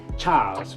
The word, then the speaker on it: Charles: There was his older brother Charles Charles in French it's not Charles but Charles Pathé and the second one is Emile Pathé So..